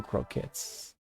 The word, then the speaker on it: croquette: yeah absolutely oh and I got the potato croquettes Croquettes oh my goodness I've named it pronouncing it in English properly in French it's